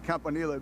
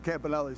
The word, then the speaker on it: Campanile: Well, well, in Italian it's Campanil, but uh yeah, but everybody says Campanelli, so you know, I just roll with the punches.